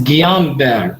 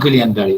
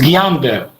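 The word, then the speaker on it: Guillain-Barré: like in gulen berry syndrome all the correct pronunciation is guillain-barre not guillain-barre this is iraqi way gulian delhi it's guillain-barre so and in a chronic and inflammatory demyelinating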